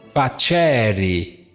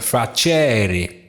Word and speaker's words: facere: Facere. Veja aqui. Essa segunda sílaba aqui é longa. Logo, se é longa, o acento recai sobre ela.